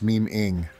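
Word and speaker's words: memeing: Joey is pronounced meme-ing, not memming.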